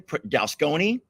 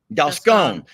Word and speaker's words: Dalscone: Did I pronounce that correctly? Dalsconi? Dalscone.